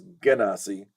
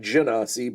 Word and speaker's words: genasi: chose to do and according to R.A Salvador the pronunciation is genasi I like janasi but whatever uh to